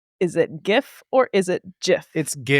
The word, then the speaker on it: GIF: How should everyone pronounce GIF? Is it GIF or is it GIF?